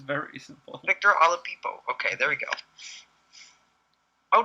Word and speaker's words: Oladipo: Victor Oladipo.